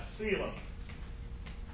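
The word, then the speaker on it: coelom: this one's called a seum the the O is silent so it has the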